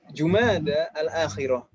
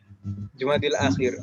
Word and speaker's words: Jumada al-akhirah: Dan di sini perlu diperhatikan mungkin Jumada al-ula, Jumada al-akhirah. Ini kita banyak salah kaprah ibu-ibu. Biasanya orang membacanya Jumadil awal. Jumadil akhir. Itu salah.